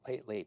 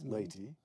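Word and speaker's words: Leyte: On October 20th, 1944, General MacArthur lands on the island of Ley. Did I pronounce that correctly? Ley. Yes. Ley.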